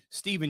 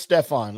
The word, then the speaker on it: Stephan: the tour at forty to one Stefan Yeager Steven Yeager no it's Stefan if you look at how he spells his